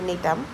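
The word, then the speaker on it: Gnetum: কি লিখতে পারি নিটাম এখানে জিটা সাইলেন্ট তো এটার প্রোনাউন্সিয়েশন হচ্ছে নিটাম তো ব্যাপারগুলা এরকম যে ট্রাকিডের থেকে কিন্তু ভেসেল বেশি এডভান্সড।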